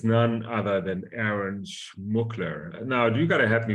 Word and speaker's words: Schmookler: guest today and it's none other than Aaron's mukler now you gotta help me with that name did I pronounce it correctly perfectly yeah wow I'm I'm